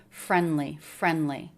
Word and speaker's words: friendly: Do you notice he pronounced friendly without the D? And that's what I'm doing as well. Friendly. So we're doing that because sometimes we drop T or D between 2 consonants.